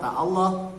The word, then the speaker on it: Allah: Lamnya pada kata Allah harus dibaca tebal. Inna loha, lam pada kata Allah dibaca tebal.